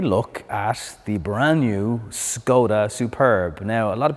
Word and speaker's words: Skoda: at the brand new Skoda Superb. Now, a lot of people commented on my last video. Sometimes I say Skoda, sometimes I say Skoda. In Ireland, we pronounce it that way, so that's the reason.